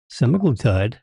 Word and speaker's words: semaglutide: pens uh show the cylinders are empty yeah semaglutide is the active ingredient in U OIC I